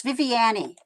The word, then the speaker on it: Viviani: rosales torreira yeah and it's viviani vivian viviani not vivint i'm sorry i'm sorry